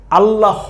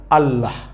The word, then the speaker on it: আল্লাহ: আকার হ আল্লাহ আল্লাহ এখানে হ থাকার কারণে কিন্তু আপনি আবার এটাকে আল্লাহ হ বইলেন না আল্লাহ হ এভাবে বলার দরকার নাই সাউন্ডটা হবে আল্লাহ এখানে এই যে হ এর পূর্ণ উচ্চারণটাকে থামিয়ে দেওয়া হয়েছে এই নিচের হসন্ত দিয়ে আল্লাহ হ এভাবে বলতে হবে না বলবেন আল্লাহ শেষে হ এর একটা সাউন্ড কিন্তু আছে হালকা করে হ্যাঁ কিন্তু হ ওই